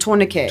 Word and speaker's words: tourniquet: tourniquet, it's the word It's the word that's spelt with the the ET at the end. Okay, so Exactly. said tourniquet.